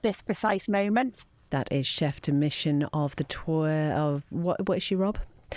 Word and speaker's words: chef de mission: I said chief de mission first of all, and I was like, no, I must get it right, and then I got it wrong again.